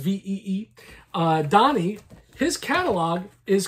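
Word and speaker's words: Vie: donni VI all right Donny V uh spelled VI i e pronounced ve uh Donnie his catalog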